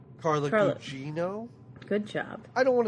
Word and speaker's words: Carla Gugino: Carla Gugino.